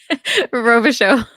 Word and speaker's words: Robichaud: Can you pronounce it for me? Robichaud.